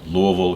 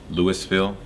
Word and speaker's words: Louisville: now we are in Louisville Kentucky I pronounce at Louisville as opposed to Lewisville um and I got